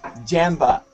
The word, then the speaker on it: Jamba: In America, Jamba. We say Jamba. Jamba. Yeah, a little bit more open.